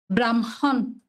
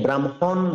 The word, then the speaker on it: ব্রহ্মা: কেউ পারবেন না এই শব্দটির উচ্চারণ? দাদা ব্রহ্মা। দাদা আমি বলি। হ্যাঁ হ্যাঁ, বলুন, অসংখ্য ধন্যবাদ, বলুন। ব্রাহ্মণ। হ্যাঁ, ব্রাহ্মণ, আমি তো ব্রাহ্মণ বলিনি, বললাম বৈরফলা হয়ম আকার, এটাকে আমরা সৃষ্টির রচয়িতা বলে আখ্যায়িত করি।